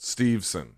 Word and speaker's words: Steveson: I don't think it's I don't think there's an extra syllable I think it's just steveson not sorry either way we